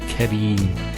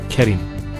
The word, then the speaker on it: Kareem: So here we have the ra, kasra, followed by the ya. This is the ya here. So Kareem, not Karim.